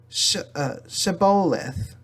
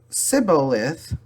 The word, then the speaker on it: Shibboleth: If he replied no, they said, "All right, say Shibboleth." If he said Sibboleth, because he could not pronounce the word correctly, they seized him and killed him at the fords of the Jordan.